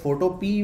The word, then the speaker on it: Photopea: ठीक है, photopea वैसे इसकी सही प्रोनाउंसिएशन है, लेकिन हम इसको photopea बोलते हैं। photopea साउंड करता है यूटोपिया टाइप ना, थोड़ा यूटोपिया से मैच करता है, तो शायद photopea शायद